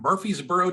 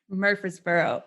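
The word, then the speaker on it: Murfreesboro: and that's in in Murphy's buror Tennessee where's where's Murphy's buror Murphy's Boro um say it right yeah it's got to sound like you have mashed potatoes in your mouth uh it's maybe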